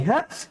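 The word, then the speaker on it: ح: same same এক colour হা টা কিভাবে উচ্চারণ করতে হবে হা টা কণ্ঠনালী থেকে উচ্চারণ করতে হবে কণ্ঠনালীর কোন জায়গা থেকে কণ্ঠনালীর মধ্যে ওখান থেকে আর খ টা উচ্চারণ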